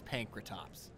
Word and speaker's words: Pankratops: Toops look at that pankratops man we have butchered this name all day today the funny thing was like I know it's panr Toops like it's because you